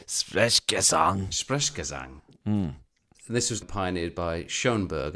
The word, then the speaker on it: Sprechgesang: I've heard Fred's delivery being described as Sprechgesang, which is a German word for speaking in song.